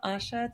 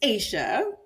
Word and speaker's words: Asia: Asha take it away so it's Asia but that's okay you know that usually that's the funniest thing I asked before I start I was like how do you say your name but okay I mean you said it the way it looks so it's fine so